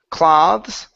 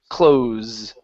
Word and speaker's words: clothes: uh the dictionary, okay, it tells you to not pronounce the th saying clothes. Okay, sort of like close the door.